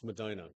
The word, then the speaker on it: Medina: at Timber beast in Medina Madina Madina I keep saying it wrong it's Madina I'll be all right it's